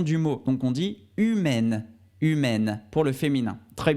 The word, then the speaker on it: humaine: féminin c'est humaine humaine encore une fois à ici pour la forme masculine on dit humain donc on s'arrête avec le son à irène leçon nasal qui donne un un humain et enfin pour la forme féminine on dit humaine humaine c'est le e à la fin qui fait changer la